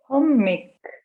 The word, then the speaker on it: hommik: Или если сказать эти первые слова «хомик» одним «м», но мы выдерживаем ударение до конца слога «хоммик», «леммик», «kõrvits», «tüdruk», «hunnik», «seelik», «tuulik». Попробуйте произнести. Hommik, lemmik, kõrvits, tüdruk, hunnik, seelik, tuulik.